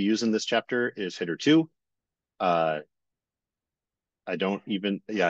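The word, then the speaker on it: httr2: I may slip into HTTR too every once in a while but officially the the package is pronounced hitter 2 so okay let's start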